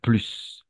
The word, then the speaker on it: plus: Em, Va a ser plus, quiero más, j'en veux plus, quiero más de algo, ¿ok? Y vamos a pronunciar esa S al final.